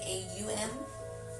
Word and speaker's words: Om: It is spelled O-M, but it is said, it sounds like a U-M, Aum.